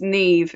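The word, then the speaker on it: Niamh: her name correct yeah it's Neeve it's an Irish name so NE did a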